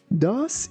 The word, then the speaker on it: thus: Be careful that th sounds like the and also letter U sounds like O. That is why we say dos.